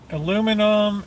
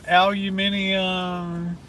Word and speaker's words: aluminium: day long oh man aluminum aluminium leave it to the Americans to correct the British pronunciations that's it yeah did